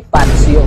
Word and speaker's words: Fazzio: sa mga hindi nakakaalam ang word na ito ay hindi nababasa bilang patcho Paso at lalong lalong hindi pa PSO Ayon sa aking research ang tamang pronunciation ng word na ito ay patso na parang basa natin sa Pisa na merong double say that turns to letter T and letter s Ang galing ng Google